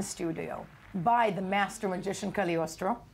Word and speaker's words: Cagliostro: How do you spell it, Cagliostro? No, God, that's so shallow of me, I know. Cagliostro.